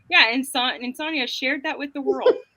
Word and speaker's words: Sonia: My in real life best friend is Sonia with an I, but she pronounces it Sonia. Did I say that correct? And Sonia. my favorite boss is Yeah. Sonia. That's fun. that happens a lot. Phonetically, it's more song, but I won't get